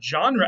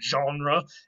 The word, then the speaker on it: genre: there what about genre genre actually comes from the root again as well as you can probably guess from the way we pronounce it genre it comes from french genre which just means a